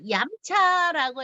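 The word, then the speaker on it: 飲茶: 자, 얌차라고 해서 왜 얌차라고 부를까? 라고 생각하시면 얌차는 음료수 할 때 마실 그 음자입니다. 음차. 차를 마신다라는 뜻이에요. 차를 마신다. 음차. 근데 광동어 발음으로 음은 얌으로 소리가 납니다.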